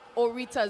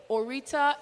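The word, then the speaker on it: Aurita: Zeneda Orita. Zeneda is spelled Z-E-N-A-I-D-A. Orita, A-U-R-I-T-A.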